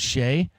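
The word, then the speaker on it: Skjei: name is s ke J that's how you pronounce Shay and he goes I'm here with what the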